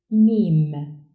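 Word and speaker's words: ميم: The 24th letter is pronounced Mim and is written from right to left on the line with a downward shape end of the line. Mim, like in monkey.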